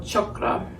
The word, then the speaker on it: chakra: So in Sanskrit, it's really more of a U sound than an A. It's more chakra, the traditional pronunciation, as I understand it.